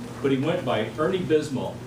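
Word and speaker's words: Bismot: But he went by Ernie Bismo, B-I-S-M-O-T, the T is silent.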